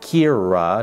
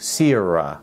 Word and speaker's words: Kira: It's said like Kira, not Sierra, in the video, and never spoke to me about it.